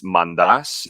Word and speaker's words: Mantas: So I'm Greek, and so it's technically Mandas is how you say it in Greek. But since it's all been Americanized, everybody just says Mantis. So it's fine, just Mantis, Mantas.